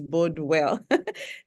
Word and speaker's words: Bordwell: I'm not gonna speak in German because I might read it in German, but it's Bordwell.